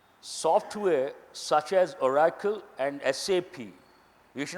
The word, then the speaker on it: SAP: it's a German word SAP means a pig there never says SAP you have to say s ap you have to mention that huh SAP if you